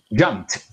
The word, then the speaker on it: jumped: Y la primera, prometer nunca ir a decir answered, looked o jumped, jumped. Paso de la P a la T.